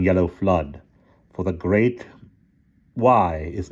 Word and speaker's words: Wye: Doward is in the valley of Goy, which the Saxons pronounce as Way or Wye.